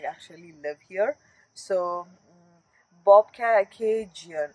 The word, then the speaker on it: Bobcaygeon: actually live here so bobcation is the is the place name that's it wasn't like what we pronounced earlier you know bob kg and like pigeon you know kind of thing